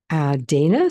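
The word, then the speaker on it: Teine: Dana sent us this. Her name's spelled T-E-I-N-E, but it's pronounced Dana.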